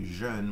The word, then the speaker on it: jeune: We don't typically say jeune, we more often say jeune, that pronunciation of for young, jeune.